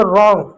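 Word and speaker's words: wrong: जैसे रॉन्ग तो रॉन्ग में आप डब्ल्यू साइलेंट होता है।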